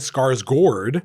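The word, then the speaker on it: Skarsgård: And then Stellin Scarsgour, by the way, that's how you pronounce it now.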